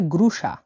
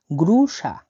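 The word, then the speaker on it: груша: সেটি হচ্ছে, নাশপাতিকে বলা হয় গ্রুসা, গ্রুসা মানে হলো নাশপাতি, গ্রুসা, GRU। এই ওয়ার্ডটা উচ্চারণ হয় SH বা তালিবস্য আকারে। ঠিক আছে, তাহলে SH এ সা, গ্রুসা, গ্রুসা মানে নাশপাতি, গ্রুসা মানে নাশপাতি।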